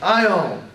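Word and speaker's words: αἰών: I'll greet work with these two vowels in it is I own I own I own is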